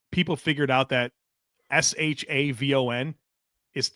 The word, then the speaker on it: Siobhan: He did an interview where he finally came out where like people figured out that S h a vo n is like you would say Siobhan shavon it's Savone and he said